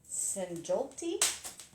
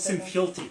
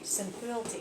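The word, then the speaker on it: Sinfjötli: there's a story of Sigmund and his son Sinjolti. Did I pronounce that right? You've been playing with Sinfjolti. Sinfjolti, excuse me.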